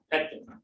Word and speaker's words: Koetkin: Petkin. Petkin. I missed it totally. So the O is silent? Yep.